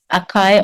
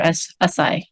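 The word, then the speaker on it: açaí: you have heard of there are different ways on how people pronounce it, but I don't know if you've heard of Akai or Asai. I said, mm-mm. Yeah, okay, Asai.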